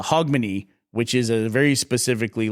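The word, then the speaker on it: Hogmanay: to pronounce it so I was saying Grog Mania but it's a hogmany which is a very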